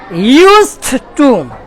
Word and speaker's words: used to: বলে ইউজ টু না এই ইডির উচ্চারণ হবে টি এর মত তারপরে টু আর টুর পরে আমরা জানি আসে ভার্ব তাই না তাহলে বলেন তো ইউজড টু ইউজ টু ইউজড টু